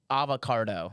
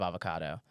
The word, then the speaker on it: avocado: z z and have feeling and then uh avoc cardo instead of avocado avocado I thought I was saying it right